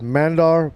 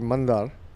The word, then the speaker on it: Mandar: New batsman in is, well, some may say it as Mandar, but it's actually Mandar.